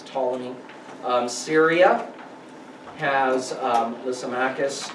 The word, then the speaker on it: Ptolemy: macedonia ptolemy gets egypt the p is silent so it's ptolemy syria has um the